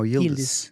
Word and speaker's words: Yildiz: So So the Z is pronounced S. no, Yildiz.